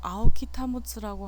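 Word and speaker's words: 青木保: 제가 현대에 대해서 얘기하는 이 PPT 자료는 요 아오키 타모츠라고 하는 사람, 이게 지금 한자로 되어 있어서 읽는 걸 안 써놨군요. 아오키 타모츠라고 읽는 이름을 읽는데, 이 아오키 타모츠라고 하는 사람이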